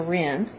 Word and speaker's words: Ryn: hardly pronounce it so we shortened it to Ren r y n come on baby it's